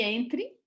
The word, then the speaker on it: Entre: que é o nome Entre, a pronúncia se Entre, com a vogal M, que dá o verbo entrar.